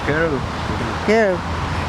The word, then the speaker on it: Kerridge: Керричи, да? А не буква W. W. Все равно Керричи, да, читается? Kerridge.